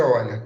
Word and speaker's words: Euler: Bom, primeira questão da prova, ele perguntou assim, de acordo com Euler, escreve Euler, mas pronuncia Euler, tá?